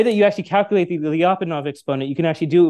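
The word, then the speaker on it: Lyapunov: name its name is does anyone know it rhymes with be off and off exponent have you ever heard the term lopov exponent so lopov exponent in in in Chaos Theory right you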